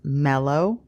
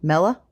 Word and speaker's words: Mellow: Also, we have a dog whose name is Mellow. There's an O at the end, maybe an OW, depending on how you want to spell it, but it's definitely pronounced with a long O.